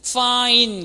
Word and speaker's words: fine: 철자상으로는 I와 끝에 단어 E까지 두 개인 것처럼 보이지만 사실 마지막 E는 발음이 들리지 않는 그런 형태입니다.